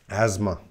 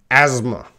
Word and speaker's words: asthma: But again, a lot of students, they see this word asthma. No, asthma. Okay, next one, number 8.